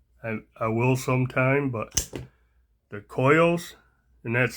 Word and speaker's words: Coeus: I will sometime, but the Koyos, and that's spelled Coeus.